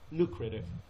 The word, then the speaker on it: lucrative: therapist but it has lucrative نه it is a lucrative job but lucrative نه استرسش بخش اوله lucrative به اصطلاح تلفظ کلمه بعدیش well known هستش.